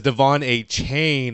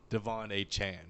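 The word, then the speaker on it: Achane: how he pronounces it it says Devon chain in the media guide which is what a lot of people were going by but it is by from his mouth Devon a Chan well they were they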